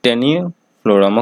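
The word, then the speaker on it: tenuiflorum: बोलिए फिर से आप लोग, बोलिए टेन्यू, बोलिए टेन्यू फ्लोरम, आई साइलेंट है, टेन्यू फ्लोरम।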